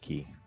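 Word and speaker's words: Cay: whatever it's spelled k but it's pronounced key yep wow look at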